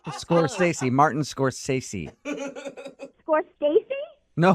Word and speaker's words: Scorsese: Scorsese? It's Scorsese.